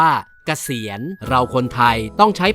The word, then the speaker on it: เกษียณ: ไง คะ พี่ โพจ คำ ว่า เกษียณ เขียน สระ เอ ก ไก่ ส ฤาษี สระ อี ย ยักษ์ น เณร จะ อ่าน ว่า เกษียณ เรา คน ไทย ต้อง